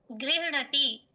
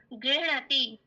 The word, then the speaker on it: गृह्णाति: प्रथम पुरुष एक वचने अस्ति गृह्णति। सः ज्ञानं गृह्णति तो गृह्णीत। महोदय एकवारम् उच्चारणं कुर्वन्तु।